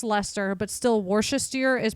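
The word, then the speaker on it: Leicester: leester or something that it looks like leester and it's pronounced Lester but still Wester is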